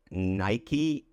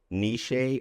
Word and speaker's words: niche: Did you say Nike, Niche, niche, or something? I've heard a lot of different pronunciations here, but the only correct pronunciation of this word would be niche.